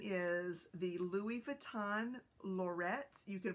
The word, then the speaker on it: Lorette: And I think the correct French pronunciation is Lorette. So I think that we're very close. We just don't do that with our R's.